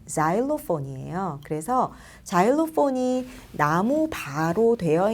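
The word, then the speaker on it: xylophone: 자일로폰은 우리가 실로폰 많이 얘기했었죠. 그 실로폰이 원래 XY 땡땡땡땡 이렇게 스펠링이 되는데 원래 발음은 자일로폰이에요.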